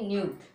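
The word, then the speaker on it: nude: इसी प्रकार से यहाँ पे भी देखो यही उच्चारण है तो इसको पढ़ेंगे न्यूड, न्यूड। ओके, क्या पढ़ेंगे? न्यूड। ई को नहीं पढ़ेंगे।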